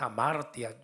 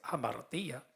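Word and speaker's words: ἁμαρτία: No sé cómo se pronuncia, si es amartia, yo creo que es amartía.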